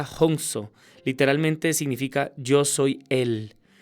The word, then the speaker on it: Hansa: El término Ahansa o Hansa se pronuncia Hongso, literalmente significa yo soy él.